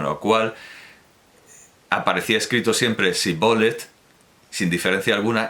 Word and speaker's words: Shibboleth: Entonces le decían: di pues Shibboleth. Mas él pronunciaba Sibolet, pues no acertaba a pronunciarlo correctamente.